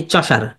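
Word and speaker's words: Chaucer: চশার কে বলেন তো এই চশার এটা উচ্চারণ হবে চশার চশার হলো মানে উনি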